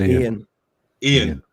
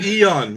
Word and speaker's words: Ian: It's Ian. Okay, there man. you go. not. Oh, Eon, Mr.